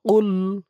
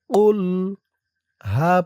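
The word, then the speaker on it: قُلْ: এই কফের উচ্চারণটা গলার ভিতর থেকে শক্ত হয়ে বের হবে।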